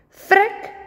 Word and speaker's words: Frik: "Frik rym met tik. Frik rhymes with tik.